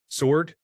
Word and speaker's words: sword: Minefield letters that make a word hard to pronounce until you realize they are not pronounced at all. Sword? It is actually just sword.